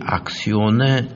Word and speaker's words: axion: 액션이라고 하는 영어의 그 행동한다는 단어와 발음이 비슷한데 그거는 ACTION, 액션이고 이거는 악시온입니다. AXION. 근데 이 악시온의 존재가 규명이 아직 안 되었습니다.